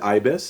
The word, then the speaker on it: ybys: I pronounce it ibis.